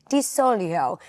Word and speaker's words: DiZoglio: All of my Italian nannas across the state remind me that the corre correct way to say it is Dolio.